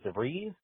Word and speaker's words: DeVries: It was me and Scott Sorensen and Vicky Rhymes with Cheese DeVries.